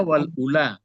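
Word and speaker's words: والأولى: Dibacanya wal ula. Benarnya kan ula yu, tapi ya-nya enggak dibaca lagi. Al ula ya.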